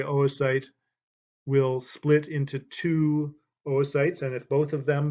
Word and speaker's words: oocyte: These are oocytes, not oocytes.